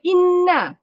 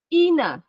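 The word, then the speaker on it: إِنَّ: Patutnya bacanya inna. Tapi dia baca inna, ina. Tak ada nun tu tidak ditekan, tidak disabdukan.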